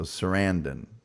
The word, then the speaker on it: Sarandon: Scott Rock says Sarendon rhymes with abandon. So Sarandon rhymes with abandon.